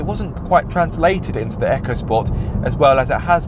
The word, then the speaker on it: EcoSport: interesting because the ford ecosport and yes it is pronounced echo sport look it up it's not eco sport even though it looks